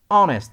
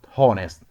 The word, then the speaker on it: honest: going to pronounce W silent H what honest not hornist white our not how our so our white honest